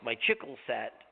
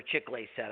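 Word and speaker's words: Chicle: And I needed a Bronco Nagurski 8 for my Chickle set, or Chickley set. Everybody pronounced it Chickle set.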